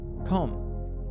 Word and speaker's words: comb: examples where the letter B is silent repeat after me comb lamb dumb limb num